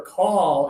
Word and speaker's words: call: If you're watching around the world on social media for numbers 4 and number 5, remember call is all right here. Like stop and officer and wobble.